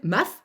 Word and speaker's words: M4F: MAF, ça s'écrit M4F.